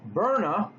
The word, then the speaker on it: Byrna: A company called pronounced burna come out with a design where the pistol and their rifles are non-lethal but they will do damage.